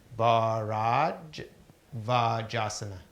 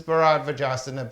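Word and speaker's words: Bharadvajasana: This is called, it's spelled B-A-H, so it's Bharajavajasana. Bharajavajasana. So this is Bharajavajasana pose.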